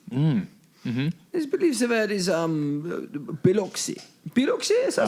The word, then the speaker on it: Biloxi: I believe the word is Biloxi. Biloxi? Is that how you say it? Yes, Biloxi.